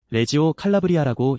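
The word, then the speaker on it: Reggio Calabria: 발음이 꽤 재미있죠. 레지오칼라브리아라고 읽어줍니다.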